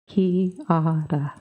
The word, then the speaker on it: Kiara: I don't think I've ever heard you say her name before, each syllable bearing its own weight. Kiara.